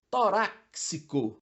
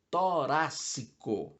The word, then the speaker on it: torácico: Torácico vem de tórax. Então, há uma tendência a continuar com a pronúncia do X com som de SC. O adequado é torácico, não torácico. Privilégio ou privilégio.